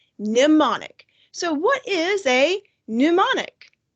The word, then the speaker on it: mnemonic: the screen is pronounced mnemonic you don't say the m isn't english van it's mnemonic so what is a